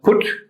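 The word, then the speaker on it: Phut: Canaan fat p-h-u-t uh sometimes pronounced foot so foot or put and later it became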